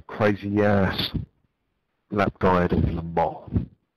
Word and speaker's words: Le Mans: Le Mans. That's how they say it. Le Mans. Not Le Mans. You've got a Pontiac Le Mans, call it a Pontiac Le Mans. If you come here, call it Le Mans.